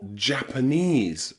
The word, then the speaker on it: Japanese: You'll also find this pronunciation of the letter E in words like Chinese or Vietnamese or Japanese, okay? ESE, any word with ESE, that ESE is pronounced ease, ease, okay?